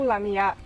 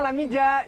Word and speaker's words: Lamija: Bukan, sebenarnya itu nama panggilan aku karena nama aku Lamia. Lamia. Iya, tapi ditulis Lamija. Jadi orang Indonesia ide bacanya Lamija.